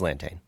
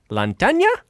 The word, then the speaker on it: Lantane: It's Lantane. Lantane? Yeah. Lantania? No, like Lantane, like just the way I said it. Rhymes with plantain?